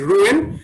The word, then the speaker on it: Rouen: It is Rouen.